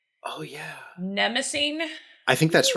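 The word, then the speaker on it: Mnemosyne: you're totally right nemesis in greek mythology because it's spelled m-n-e-m-o-s-o yeah yeah it is it's it's nemosine yeah that's really cool um i love it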